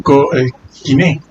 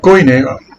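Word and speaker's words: κοινή: El koiné. El koiné, se lo pronuncio así porque ustedes lo conocen así.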